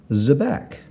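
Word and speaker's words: xebec: Zebek is spelled X-E-B-E-C, Zebek.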